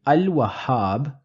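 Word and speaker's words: الوهاب: of alphabets in h therefore in Al wahab I am going to pronounce the lamb in assat I do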